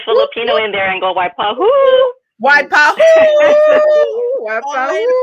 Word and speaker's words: Waipahu: Were we pronouncing that properly? Waipahu? Yeah, we got it right. We got that right. Okay, we just You can throw the Filipino in there and go Waipahu.